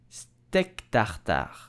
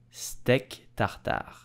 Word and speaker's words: steak tartare: So how do you pronounce it correctly in French? You will say steak tartare, steak tartare, steak tartare.